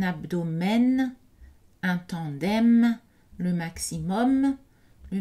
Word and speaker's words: abdomen: Donc, aucun de ces mots n'est prononcé avec une voyelle nasale. Ce sont des voyelles orales. Un album, un abdomen, un tandem, le maximum, le minimum, l'aluminium.